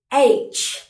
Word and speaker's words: H: Bueno, tenemos la H que en inglés se dice H. H. ¿Bien? H. Tiene el mismo sonido que la A en inglés, A. Pero le pongo como un H detrás, H, ¿bien?